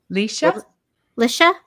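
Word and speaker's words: Lycia: do know beyond Star Trek uh is it Lasia? How do you say her name? Yeah, it's L. It's L Y C I A I said Lysa Lisha Okay.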